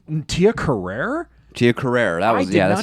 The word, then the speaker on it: Carrere: Tia Carrere. That's how you pronounce it.